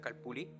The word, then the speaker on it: calpulli: Los calpultin, palabra náhuatl que en su singular se pronuncia calpulli, son las formas de